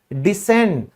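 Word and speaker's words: descend: फिर है उतरना, कहीं से आप उतरते हो, डिसेंड, यहां भी सी साइलेंट है।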